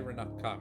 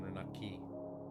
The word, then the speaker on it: Renaka: They say Renaka rather than Renaki.